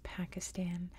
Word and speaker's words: Pakistan: just a quick note I always use American English pronunciations and in American English it's Pakistan I know in pretty much every other form of English and in many other languages it's Pakistan like I know I